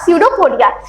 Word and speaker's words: स्यूडोपोडिया: बच्चों यहाँ पर ना पी साइलेंट होता है, ठीक है, ये भी ध्यान रखना है, स्पेलिंग मिस्टेक हो सकती है आपकी। तो यहाँ पर जो पी है बच्चों क्या है? ये आपका साइलेंट है।